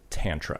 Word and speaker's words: Tantra: Most guys from most people from the Northeast say Tantra. Mm-hmm. And I think that's just, because of the way that they say their vowels. Mm-hmm. But I've always said Tantra.